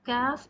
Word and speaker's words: ك: As you can see, for the pronunciation of kaf, it is just like English K.